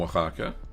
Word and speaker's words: Oaxaca: So I do have a video on Oaxaca on how we did it. Oh, how do you spell it? O-X something. No, doesn't have an ox. Oaxaca. O-A.